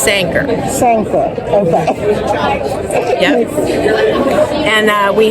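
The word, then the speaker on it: Sanquhar: I believe it's pronounced Sanker.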